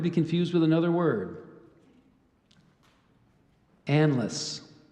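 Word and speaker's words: anlace: Chaucer's Canterbury Tales and it gave you the pronunciation of analysts there's also Anne lace endless a-n-l-a-s-s sandless analyst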